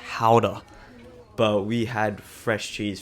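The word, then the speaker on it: Gouda: cheese market would run fun fact GAA is from Netherlands and we went to the town it's actually pronounced howder but we had fresh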